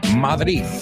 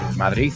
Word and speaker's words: Madrid: At the Retiro Park in Madrid. I'm just joking. Madrid. I don't say it like that. Madrid. Oh, I say Madrid a lo guiri.